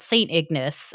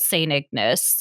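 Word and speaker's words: St. Ignace: It's called St. Ignis. And that's how they pronounce it.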